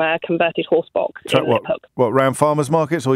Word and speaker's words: Liphook: I monger cheese in Liphook in Hampshire. So you're in Guildford today? I'm in Guildford most days. Is that how you pronounce it? Liphook, not lip hook.